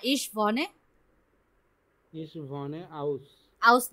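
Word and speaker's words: Wien: শয়ের মতো উচ্চারণ হবে, লাইপসিশ। হ্যাঁ, এটা কি হবে? লিন্স। লিন্স। এটা পেইন। ভিয়েন। না, লাস্টে ই ই না, তাহলে ভিন, ভিন।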